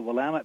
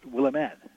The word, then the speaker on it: Willamette: they are called the Willamette Valley that outsiders tend to pronounce will amend well it's not my